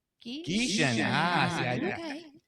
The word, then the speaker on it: Gieschen: Geishon. Geishon. Geishon.